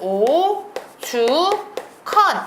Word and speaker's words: 오죽헌: 쓰나요 합 덕 이렇게 쓰셔야 됩니다 주도 마찬가지로 발음은 오 주컨 이렇게 되지만 체연 거센소리 대기는 표기에 반영하지 않는다